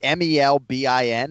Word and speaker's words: Melbourne: And yeah, I'm glad someone appreciates the pronunciation thing. You know, we go with Melbourne. We write it Melbin.